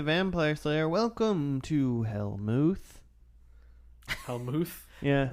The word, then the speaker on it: Hellmouth: Helmuth. Yeah, Is that how it's pronounced? it's Like vodka, vermouth, Hellmouth.